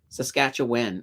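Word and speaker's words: Saskatchewan: house um let's see I just me is pronounce when not Juan oh oh oh saskatch saskatch when there we go saskatch a win okay I'll try to remember that I'll try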